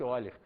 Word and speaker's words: Euler: Está escrito Euler, mas pronuncia-se Euler.